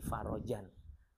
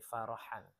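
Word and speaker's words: فرجا: Min kulli hammin farajan. Dia bacanya min kulli hammin farahan. Ya. Farahan itu farhan, berarti kan bahagia.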